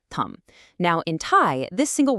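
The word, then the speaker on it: ทำ: Take the Thai word tum, pronounced thumb.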